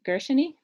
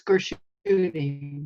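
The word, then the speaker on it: Gershuny: There was another question from Grace Gershony. Did I say that right? Grace? It's Gershuni, rhymes with loony.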